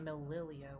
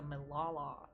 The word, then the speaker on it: Milala: It's not Mililia, whatever. It's the Milala. Okay. It's because of the way it's spelt, it's looked a little weird.